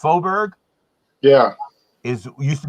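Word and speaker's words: Faubourg: opened it oh so so this f it's phobia it's pronounced foburg yeah is it used to be dixie wow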